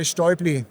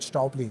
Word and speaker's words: Stäubli: So in Switzerland we say Stäubli. Okay. And that's the right pronouncing. But in the international environment, we usually talk about Stäubli. Okay. So both of them go. Both of them is okay.